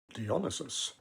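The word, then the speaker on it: Dionysus: And in Bachi, they are the group of women who worship the demigod Dianisis or Dionus as they insisted it should be pronounced.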